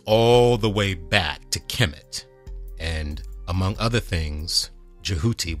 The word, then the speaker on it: Kemet: Egypt by the Greeks that land was known as Kemet Kem ET Kemet Kem kmt in ancient times and Kem ET in our modern times that's how we spell it now kem ET a back then it was just k mt because they didn't have vowels and the culture was